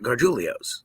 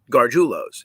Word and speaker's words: Gargiulo's: And it's not Gargiulio's. It would be Gargiulio's if there was an I before the last O, but it's not. There's not. It is just Gargiulo's.